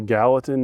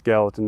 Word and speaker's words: Gallatin: That is in, I believe it's pronounced the Gallatin National Forest.